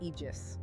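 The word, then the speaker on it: Aegis: The project is called Project Egis, pronounced Eegis, right? Egis.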